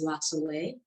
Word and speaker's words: La Soley: So I should mention the correct pronunciation for my company is La Soleil. And it is spelled, Soleil is sun, and it's spelled the Creole way because I am a first generation.